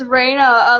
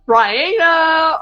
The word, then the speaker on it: Ryainna: Yes, it's Raina. A lot of people like I was trying to say it except it interrupted me. Um, I was trying to say most people pronounce my name wrong. Like I've never had one person pronounce it right the first time. They either say like Ryanna or I don't know cuz